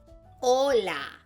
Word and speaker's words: hola: The most common way to say hello to somebody is by saying hola. Hola. Remember, that H is silent.